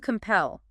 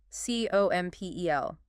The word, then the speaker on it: compel: Okay, fourth verb, to compel. C-O-M-P-E-L. Stress. Compel. Stress on the second syllable.